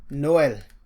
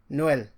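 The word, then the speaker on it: Noël: So for E, it still makes you to pronounce the E as E. A good example is Noel, which is Christmas. Noel.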